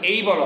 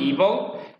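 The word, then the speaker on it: able: Suddenly, হঠাৎ করেই, উই আর ইবল, ইবল মানে সক্ষম হওয়া, উচ্চারণ দুই ভাবে হয়, এই বলা হয়, আমেরিকান প্রনাউন্সিয়েশন ইবল, ব্রিটিশটা এইবল।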